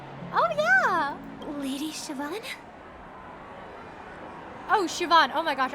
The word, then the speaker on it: Siobhan: Lady Siobhan. Oh, Siobhan. Oh my gosh. I am pronouncing her name very very differently.